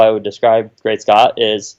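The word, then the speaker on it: GreatSCT: working with it so great Scot that's that's how you pronounce it or how I pronounce it Chara vested to your great Scot you are the dog native source announce that your product I think even in the the github readme it might say it's pronounced Great Scott or maybe I remove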